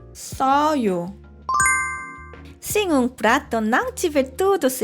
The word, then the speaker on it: 써요: Aqui, 셔요 e 써요 têm sons diferentes. 셔요, vento precisa sair. 셔요. 써요, amargo, o vento não sair. 써요.